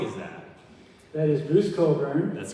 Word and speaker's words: Cockburn: It looks like Cockburn, pronounced Coburn.